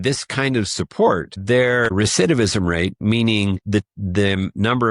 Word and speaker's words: recidivism: I even had to look it up cuz I didn't even know the word recendivism. Is that how you pronounce recidivism?